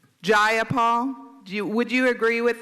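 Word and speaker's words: Jayapal: Do do you agree with Miss Jipal that there was no takeover? It was just If you're going to say my name, please say it right. It's Gyipol. Gyipal.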